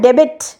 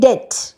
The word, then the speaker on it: debt: Beta pronounce হয় না, আমরা তো বলি না ডেবিট, আমরা বলি ডেট।